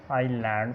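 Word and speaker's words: island: Examples oil, डेबरी, इसको डेब्रिस नहीं पढ़ना, डेबरी, उसी तरह ऑयल, और इसको हमने आइलैंड पढ़ना है और बॉर्जियो, इसमें एस साइलेंट है।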